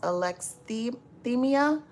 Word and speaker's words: alexithymia: And Love says, I just looked up, and I think it's pronounced alexithymia.